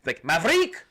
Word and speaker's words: Maverick: It's Everybody pronounced Maverick correctly. It's Maverick.